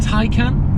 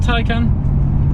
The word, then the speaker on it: Taycan: all-new 100% electric Porsche ty can take and tycoon depends on which part of the world you're in to how you want to pronounce that but those things aside